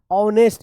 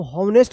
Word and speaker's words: honest: अगर कोई बोलता है आप ऑनेस्ट लिखिए, तो ऑनेस्ट आप ऐसे लिखेंगे HONEST, ऑनेस्ट। इसको हॉनेस्ट मत पढ़िएगा, ठीक है।